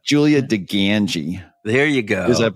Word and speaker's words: DiGangi: Julia dangi and that's pronounced with a full out Chicago Accent on the Gangi part by the way um